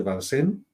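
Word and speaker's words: Vincennes: Pero bueno, yo estaba en una excavación en el castillo de Balsen, se escribe Vincenes y los que han visto París hay una estación de metro que se llama Castillo de Vincenes, ¿vale?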